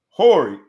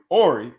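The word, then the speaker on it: Horry: time the fact that the fact that i watched him play for years and i'm still wondering whether or not the h is silent it brings me to what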